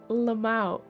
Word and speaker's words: LMAO: Right, okay, I say it as Lamau, like, but it's, you know what I mean.